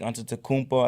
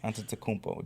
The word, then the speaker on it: Antetokounmpo: The Greek freak Antetokounmpo, I think that's how you say his name. Yeah. I love that last name, Antetokounmpo.